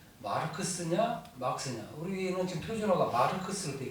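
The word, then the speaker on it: Marx: 할 때 마르크스냐 막스냐 우리는 지금 표준어가 마르크스로 되어 있거든. 근데 막스로 대다수가 찬성했어. 일단 맑을 막자를 떠올린다. 막다. 두 번째 마르크스는 일본식 발음이다. 마르크스.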